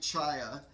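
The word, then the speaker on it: Czaja: So but uh this is uh Mike uh Chia in uh in the 90 car. His last name is pronounced C C Z C CZ AJ A. So Mike Chaya, which is really interesting pronunciation of the word.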